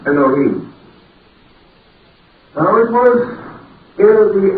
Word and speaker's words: Elohim: We generally pronounce that as Elohim, or more perhaps correctly, Elohim.